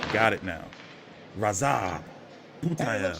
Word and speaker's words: Radzhab: Oh, it's Radzhab. The H is silent. Got it now. Radzhab.